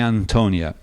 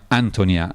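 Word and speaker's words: Ántonia: Lark and my Antonia which is what most people call it although in fact it should be pronounced my Antonia which is very difficult to do but it's the Czech pronunciation of the Immigrant family who call the titular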